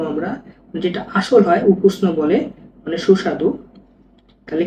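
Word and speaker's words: ukusno: এই ইউকে আমরা ওয়াই এ ইও লিখতে পারি, ইয়াকুষ্ণ বলা যায়, তো সবচেয়ে ভালো হচ্ছে উকুষ্ণ বলা, তো উকুষ্ণই বলবো আমরা, যেটা আসল হয় উকুষ্ণ বলে, মানে সুস্বাদু।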